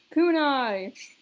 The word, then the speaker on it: kunai: bomb kunai shirukin yep that's actually how it's pronounced kunai execution blade why does it make that one